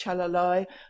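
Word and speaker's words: calalai: One or two of them only mean people born with ambiguous genitalia, and I can see one in there, it's pronounced chalalai, that refers to female-born persons of the Bugis tribe, which is one of the ethnic groups in South Sulawesi in Indonesia.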